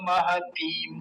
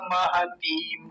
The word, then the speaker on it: महतीम: आचार्य महतीम चमूम, महतीम चमूम, महतीम पे थोड़ा ध्यान रखेंगे, लंबा खींचना है।